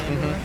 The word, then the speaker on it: Andor: Andor is. I feel like. Andor's really good. Rebels. And yeah, I am saying that right? Andor? Yep, Cassian Andor.